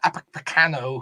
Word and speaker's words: Upamecano: Then Upamecano, who I can never say properly, I think that's how you say it.